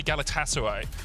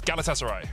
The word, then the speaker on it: Galatasaray: couple of tweets saying don't say Galatasaray so it's Galatasaray yeah we'll try if if